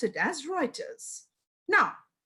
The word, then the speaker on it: Reuters: reuters although the spelling is reuters but we pronounce it as reuters now how do we calculate now every one